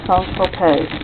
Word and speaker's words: Saint-Tropez: And this is a pastry that was promoted by Brigitte Bardot, named for Saint-Tropez, which you can pronounce Saint-Tropez. That's the old original pronunciation.